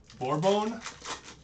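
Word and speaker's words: Borbón: buy back i'm a noodle guy holy jeepers bore bone oh that's how you say it or bone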